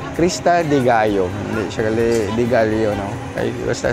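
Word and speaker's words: Cresta de Gallo: kabat ride going to Krista dealo. Krista de Gayo hindi siya Dealo. No basta Spanish if it's double L it's it pronounced as Y.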